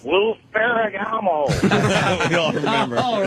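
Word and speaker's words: Lou Ferrigno: I just wanted to let you know you're pronouncing it wrong. It's Lou Ferragamo.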